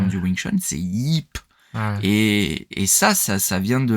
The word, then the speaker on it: Ip: Ils appellent Ip Man, donc c'est Yip, le Y, le I, tu le prononces, tu vois.